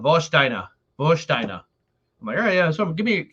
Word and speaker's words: Warsteiner: a german beer called vostina um that's how you know i've been working at german club too long it's called it's spelled warsteiner but i'm working there doing trivia it's called vostina versteiner yeah something give